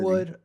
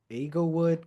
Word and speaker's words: Inglewood: Eaglewood, Inglewood, California.